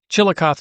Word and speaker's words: Chillicothe: Chillicothe is how you pronounce it.